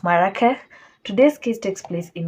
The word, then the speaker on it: Marrakesh: I really had to fight. You don't know how far I went just to get that pronunciation right. So yeah, it's Marrakesh.